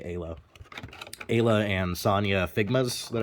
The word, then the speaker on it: Isla: It's spelled Isla, but I think they say Ayla.